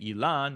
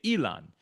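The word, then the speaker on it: אילן: But for whatever reason, when saying the name, you don't say Elan, you say Elon.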